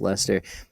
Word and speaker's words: Leicester: I don't really know how to Oh, properly Lester. pronounce it. Yeah. We'll ask Stefan Milo. Yeah. I think he had corrected me on it. It's Lester.